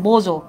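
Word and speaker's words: bonjour: দেখো ফ্রেঞ্চে আমরা বলি হ্যালোকে বোজো, উচ্চারণটা একটু কঠিন আছে, বোজো।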